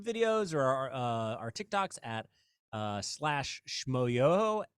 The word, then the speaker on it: Schmoyoho: But you can look at our YouTube videos or our TikToks at /Schmoyoho, SCHMOYOHO, accent on the yo.